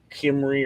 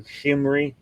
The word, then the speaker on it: Cimmerii: It's like a hard G, Cimmerii or Gimmerii.